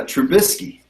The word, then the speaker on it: Trubisky: Is that how we pronounce it? It's Trubisky.